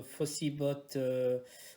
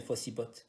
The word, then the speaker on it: Fossibot: Donc c'est le Fossibot, bon c'est le T se prononce, ça c'est pas Fossibo mais Fossibot.